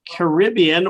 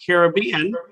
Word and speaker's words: Caribbean: But today we're going to study about Jewish pirates of the Caribbean or Caribbean, depending on how you pronounce it, which is very apropos because I don't know if you realize that what's his name?